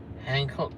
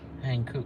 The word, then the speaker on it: Hankook: Actually, I said it wrong. Hancock tires all round. Hankook tires, right?